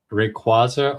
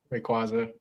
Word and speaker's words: Rayquaza: Rayquaza. I will say Rayquaz is growing on me. Uh I used to just spit it out, but knowing that it's the official pronunciation and and I've said